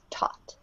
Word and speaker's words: taught: see one more thing careful with the pronunciation of this past participle taught it should rhyme with thought but make sure it gets a crisp t taught all right so Camila